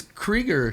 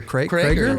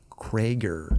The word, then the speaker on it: Creager: Yeah, I was going to say, I don't think it's Krieger. Creager? Like a little mix of both.